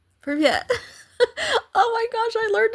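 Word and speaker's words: привет: Privyet. Privyet. Oh my gosh, I learned a new word. Yay. Privyet. Privyet. Privyet. Privyet. So you have to pronounce the T, right?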